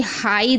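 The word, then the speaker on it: high: अगर किसी शब्द के अंत में GH या GHT हो तो GH साइलेंट रहता है, यानी आखिरी में अगर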